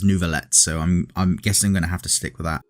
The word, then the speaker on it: Neuvillette: the ever beautiful nouveaulette originally I thought his name was pronounced nouvelle but the way they pronounce it in-game is nouveaulette so I'm I'm guessing